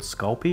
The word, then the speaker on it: Sculpey: The other brand that a lot of people use is called Sculpey. It's spelled S-C-U-L-P-E-Y.